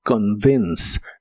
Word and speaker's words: convince: La O se pronuncia muy suave y la E del final no se pronuncia, así que suena como convince.